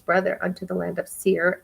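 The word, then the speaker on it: Seir: to esau his brother unto the land of seer the country of edom and he commanded you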